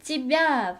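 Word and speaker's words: её: 이번에는 찌벼 발음을 주의해서 읽어주시면 됩니다. 찌벼 스펠링은 예와 야의 모음으로 이루어져 있지만 발음을 하실 때는 강세 때문에 예가 이 발음이 됩니다. 찌벼.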